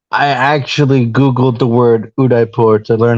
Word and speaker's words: Udaipur: No, there is no H. Yeah, that's that's that sounds more like it. Udipur. Udipur.